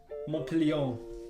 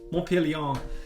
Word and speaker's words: Montpellier: Montpellier. Montpellier.